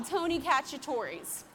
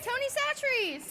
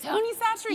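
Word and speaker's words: Tony Chachere's: in this stuff that I used to call Tony Cacciatore's until I was in the car with Loreal yesterday. How do you say it? Tony Satcheries. Tony Satcheries.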